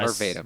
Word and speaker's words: Catervatum: Uh, Catervatum. yeah, C-A-T-A. Cat. No, it's Cater. Catervatum. V-A-T-I-M. Yeah. Yeah. Vatum. Yep. Catervatum.